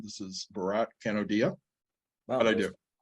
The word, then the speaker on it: Bharat Kanodia: This is Barat Canodia.